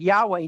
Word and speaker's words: Yahweh: days he would teach the name of God Yahweh not capital L O R D or Adonai